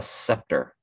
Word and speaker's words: scepter: my brain gets yeah a scepter the s or the sea is silent you rule with the